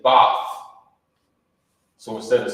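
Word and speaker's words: בת: In the ancient Hebrew, you would pronounce it Bath. You know what I mean? That's how you say daughter.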